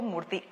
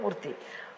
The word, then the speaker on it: Murty: Yeah, at the time of marriage, I told Murty, T-H-Y always gives the sound th. T-Y gives th. And so, my surname will be T-Y because it's nearer to the correct pronunciation.